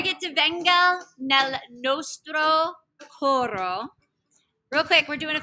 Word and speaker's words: coro: Coro, you want to roll your R just a little bit. Flip your R.